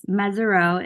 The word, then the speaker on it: Mesirow: And I'm imagining, I'm assuming the comes from your family name, Mesirow, is it? Do I have the pronunciation correct, or is it? Yes, Mesirow is my family name, and I had a